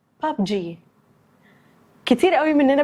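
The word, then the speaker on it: PUBG: رقم 1 بابجي، كتير قوي مننا بيقولها ببجي، وكتير تانيين بيقولوها ببجي، بس النطق السليم بتاعها هو بابجي.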